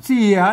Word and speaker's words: เสีย: ครับ สระ ละเอียด นะ ถ้า เป็น แบบ ที่ 1 เขียน ว่า เสย นะ อ่าน ว่า เสีย นะ ครับ อ่าน ว่า เสีย นะ อัน นี้ บวก กับ มัน เป็น สระ เอีย ไทย นะ ครับ อ่า เสีย